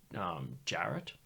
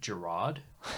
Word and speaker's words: Jarrett: His last name was Jarrett. Just straight up Jarrett. But I used to pronounce it Gerard.